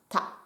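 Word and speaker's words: 田: Et ce kanji se prononce ta.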